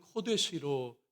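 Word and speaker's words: קודש: 여러분, 거룩이란 앞에 보시면요, 히브리어로 카도시인데요, 이게 형용사형이고 명사형은 코데시로 발음해요. 자음은 같고 발음만 다릅니다.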